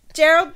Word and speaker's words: Geralt: Geralt. It's Geralt. Fuck you. Screw it. It's spelt that way.